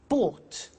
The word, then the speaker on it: bought: So listen carefully to the pronunciation by bought. You notice that o u g h t is pronounced ought.